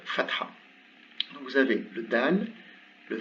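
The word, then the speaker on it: دال: C'est la dernière des lettres qui composent le nom Muhammad, c'est un dal. Il se prononce comme un D, tout simplement.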